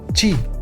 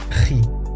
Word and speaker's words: χ: De aquí que algunos escriban así estas letras, lo que conlleva a llamar a esta letra chi, como la función chi cuadrado, que a mí personalmente me duele oírlo. Por favor, ji.